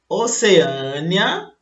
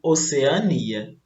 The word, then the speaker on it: Oceania: Oceânia ou Oceania. As duas formas também podem ser ditas, tá? Pronunciadas.